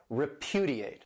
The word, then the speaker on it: repudiate: This verb has 4 syllables and the stress is on that second syllable, repudiate.